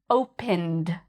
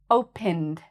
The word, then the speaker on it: opened: Opened, opened, opened. Okay, I find that usually the ones that have the d sound are sometimes harder for listening. But yes, this one actually has the d sound.